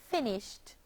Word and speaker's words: finished: The verb finish, finish, becomes the past tense verb finished, finished, having 2 syllables.